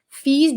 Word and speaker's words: Fils: Filho, pronuncia o S, tá? Fils du comédien et chanteur québécois d'origine égyptienne.